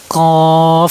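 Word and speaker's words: ك: কাফ হরফ উচ্চারণের সময় কাফ হরফ উচ্চারণ স্থান জিহ্বার গোড়া কাছাকাছি একটু উপরে ও সে বরাবর উপরে তালুর সাথে লাগে উচ্চারণ করবেন।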